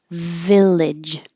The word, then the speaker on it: village: do we have here Village you have a VA so if you have trouble with a V you probably don't have trouble with an f and it's exactly the same top teeth on bottom lip just use sound Village and the g sounds like a j Village vegetable so drop